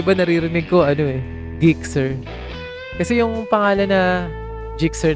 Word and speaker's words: Gixxer: sa kanya is Gixxer G as in na Ginger hindi g as in galunggong kasi iba naririnig ko ano eh Gixxer kasi ung pangalan na